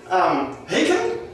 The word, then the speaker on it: Haken: Haken?